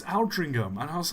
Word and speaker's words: Aldringham: And like that, it's like, no, it's Aldringham.